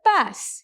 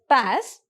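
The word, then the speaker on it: PaaS: a service which is called as the pass you can pronounce it as pass it allows the programmers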